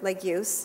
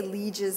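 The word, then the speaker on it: Legius: lot of the neurologic cognitive or behavior of leeches syndrome because they're very very few studies have been done but Eric leeches Erik Lagos is how he pronounced his name we we say Lee jizz in America his it's pronounced like use they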